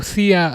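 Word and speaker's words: Szia: Oh, Sia as in that's how you pronounce it, right?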